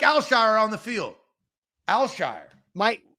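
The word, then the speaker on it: Al-Shaair: Aziz al-shire and it's it's more closer to one syllable than it is three syllables right because a lot of people were saying al-shire like they were trying to break it up smooth Al Shire azizelshire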